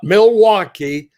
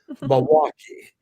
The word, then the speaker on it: Milwaukee: to know how to how to pronounce it not milwaukee milwaukee and um i was